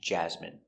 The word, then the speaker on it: jasmine: So, we're going to practice the pronunciation of the sound in for I N E. Example, medicine. Margarine. Intestine. Genuine. Famine and jasmine.